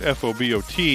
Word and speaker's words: Fobot: from things so it's f o b o t and i pronounce it fobot f o e phonetically would be foe bought robot and i've been